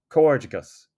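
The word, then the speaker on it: Comhghairdeas: use congratulations in English now let's practice the pronunciation together this one can be difficult so we'll break it down into smaller pieces before trying the full word Co cus cerus cicus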